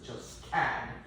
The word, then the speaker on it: Josquin: The Q is pronounced as Josquin, Franco-Flemish.